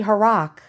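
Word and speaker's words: Harrach: below and tell me h-a-r-r-a-c-h it sounds like Barack like Barack Obama a rock Barack Obama don't mind me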